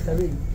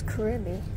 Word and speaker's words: Carib: Wait, it's Carib. Oh, it's Carib. I thought it was Caribbean.